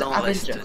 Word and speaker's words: Avengers: Ça se prononce Avengers.